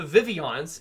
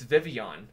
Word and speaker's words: Vivillon: say hi to those vivillon's it's vivillon not vivillon oh I well no